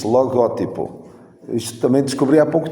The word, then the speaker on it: logótipo: Não se diz, nem se escreve logotipo, diz logótipo.